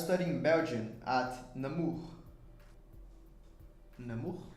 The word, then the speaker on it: Namur: Namur? Am I pronouncing it correctly? It's right.